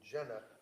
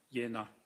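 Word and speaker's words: Jena: Kupka who is the managing director of terra medical a v a t e r a medical in Jenna j e n a German yeah it's pronounced yenna okay thank you and um this was so that you could something funny Dr.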